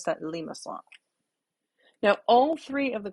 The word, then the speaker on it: limaçon: heard this word pronounced limacon limacon limasson but the i in french would be an e sound and the cydia here tells me that's a soft c so i would pronounce that limassol now all three of